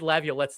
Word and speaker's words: Laviolette: And I said Laviolette's name wrong.